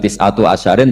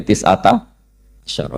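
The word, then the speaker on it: تسعة عشر: tisata asyaro utawi solongol tetap bacanya bukan tisatu asyarin tapi tisata Asaro jadi kita tahu secara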